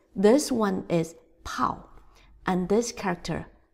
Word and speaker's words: 炮: So it's, this one is pao. And this character, bao. Next character, 热热热热 So R is pronouncing as r, r.And then E is 热热热